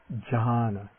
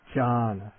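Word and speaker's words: jhāna: The word for meditative absorption is John. John.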